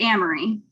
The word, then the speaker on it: Amory: So is it Amory or Amory Ames? Which way did you pronounce it? I pronounce it Amory. Okay. I think maybe the traditional pronunciation is Amory, but I've always just said Amory.